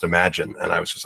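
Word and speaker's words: Imagen: image and then genen is actually pronounced imagine and I was just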